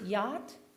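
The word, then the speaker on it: Jauch: Is it yacht? Yacht. Yuck. Yes. Okay. How do you spell it? J-A-U-C-H. Nothing like it's pronounced.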